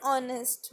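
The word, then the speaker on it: honest: Poor would cutter नहीं, a poor would cutter was एन ऑनेस्ट मैन. एन क्यों आएगा, because H silent है.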